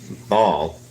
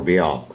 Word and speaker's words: Baal: Elijah was telling the people that they need to choose between God and Baal, which Baal was a false prophet of the